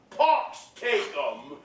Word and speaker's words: Pax tecum: of the sick, to cry, Pax tecum, or rather in the foreign pronunciation, Pox tecum.